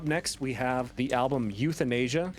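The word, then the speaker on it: Youthanasia: we have the album youth in Asia pronounce that pronounced SP spelled like Youth and Asia cuz it's the youth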